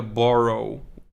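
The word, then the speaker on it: borough: pronouncing like you have words like a borrow not borrow like to take from someone but borrow like a neighborhood and it's written doesn't have anything to do with how it's pronounced um I know in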